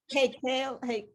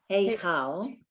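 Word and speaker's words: היכל: el ha, hakel, Hey, okay, that chaf, hakel, heichal.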